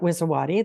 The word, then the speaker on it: Wiszowaty: Well, my name is Wiszowaty. That's how you pronounce it.